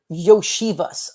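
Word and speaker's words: Iosivas: You pronounce it Yoshivas.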